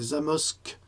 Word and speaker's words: Zamość: prononce comme ça, c'est Zamość, mais avec les accents, je crois que c'est Zamość, en Pologne, qui appartient